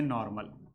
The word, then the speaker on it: n: अगर straight chain है तो उस कंडीशन में हम लोग नॉर्मल लिखते हैं, एन लिखा जाता है लेकिन प्रोनाउंसिएशन इसका करते हैं नॉर्मल।